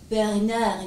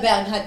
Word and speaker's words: Bernhard: Du heißt aber nicht Bernard Nudel. Sondern Bernhard Nudel.